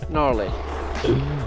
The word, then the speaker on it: gnarly: it to dig you gnarly off pista all right let's try what the G and now who's the G did you pronounce the G alright I shouldn't do that gnarly I like it your